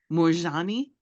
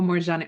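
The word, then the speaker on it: Moorjani: a n i okay how do you say it morani oh morani okay cool because I I just seeing the spelling it look like that's how you would say okay so awesome moani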